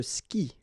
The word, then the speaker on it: skie: And then, je skie, okay? Exactly the same thing, je skie, okay? You've got this I, and after that you've got the vowel but then you don't pronounce it, all right?